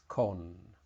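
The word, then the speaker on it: ขน: tone that is different for person it's con no tone but for hair or fur it's con very similar word here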